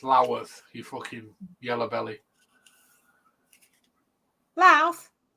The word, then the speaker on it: Louth: Louth. Louth. You always know somebody from Lincolnshire because they pronounce it properly.